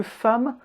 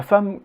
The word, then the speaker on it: femme: apprendre ça commence bien mais c'est parce que femme est un cas spécial l'histoire courte et que eux et parfois prononcé à devant un double m ma femme crois que les français sont des sadiques et